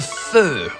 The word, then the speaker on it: feu: is for on, and feu is for fire. However, the hardest part of this sentence is pronouncing the word feu. We noticed English people do not have this sound in their vocabulary.